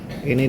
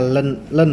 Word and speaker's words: ln: Ini dibacanya ln ya, bukan in ya. Ln itu dari logaritma natural.